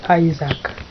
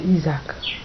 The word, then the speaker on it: Isaac: My name is Isaac, not Isaac.